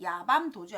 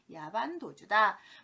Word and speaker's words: 야반도주: 그래서 아주 깜깜한 밤에 도주하다, 도망가다 라고 해서 야반도주지 야밤도주 아닙니다. 밤에 도망가는 거니까 보통 야밤도주라고 표현하는데 야반도주입니다. 그래서 야밤도주 아니다. 야반도주다.